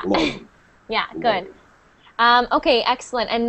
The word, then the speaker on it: Lauren: And not Lorraine. No, Lauren. Yeah. Lauren.